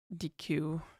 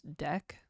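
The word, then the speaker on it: deque: Apparently, I'm saying DQ DQ wrong. It's Deck. Yeah. Yeah. Somebody's Oh, yeah. Pronounced Deck.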